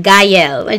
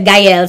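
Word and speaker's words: Guyle: That's how you pronounce it, Guile. G-U-Y, like guy, like hey, you guy. And L, as in L, E, the letter, yes. So Guile.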